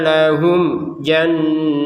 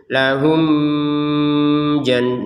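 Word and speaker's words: لهم جنات: Mim sukun bertemu jim kita bacanya dengan jelas. Jelas artinya apa? Jangan ada dengung. Karena kalau ini dibaca dengung, lahum jan. Nah, itu dengung. Jadi, mim sukun tidak ada dengung sama sekali. Lahum jannat.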